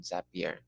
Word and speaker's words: Zapier: your own account on zapier so it's up here we try and read happier so that's how it's pronounced this is your zap